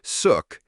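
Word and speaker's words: Xuc: Born in the 1940s, the name Zuk, pronounced suk, comes from the quirky shook shook sound made by the clarinet in traditional folk music.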